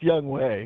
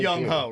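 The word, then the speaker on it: Younghoe: I not Ken Ho. I believe it's Young Way. Oh, Young Way. It's spelled Young Ho, right?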